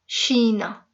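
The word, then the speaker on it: chá: शौक से पीते हैं, चाय को पुर्तगीज में शा कहते हैं, शा, ठीक है। तो हम चाय कहते हैं और पुर्तगीज में उसको शा कहते हैं, CHA, और ऊपर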